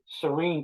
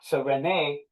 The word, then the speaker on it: Cyrene: Cyrene or Cyrene, which is how it would have been pronounced in the Latin tongue, right? Serene today, Cyrene in the Latin, right?